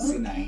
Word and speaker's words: Sinai: Some pronounce it as Sinai, but yeah, Mount Sinai.